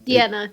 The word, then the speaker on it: Deanna: Deanna. It looks like both. Like a female version of Dean.